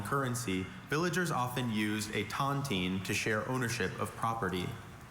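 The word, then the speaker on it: tontine: In a sentence, in the days before a central bank or common currency, villagers often used a tantine to share ownership of property.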